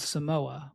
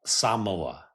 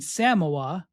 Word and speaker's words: Samoa: thought it was called Samoa, but they pronounce it. I'm not even probably getting it right. They pronounce it Samoa. More of like an emphasis on the first syllable.